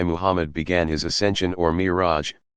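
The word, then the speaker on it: Mi'raj: From a spot nearby Muhammad began his ascension or Miraj, pronounced Miraj.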